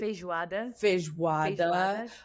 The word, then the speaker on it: feijoada: Feijoada.